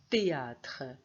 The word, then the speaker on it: théâtre: d'humour comme théâtre théâtre alors ici je vois h mais je le prononce pas théâtre thé du thé alors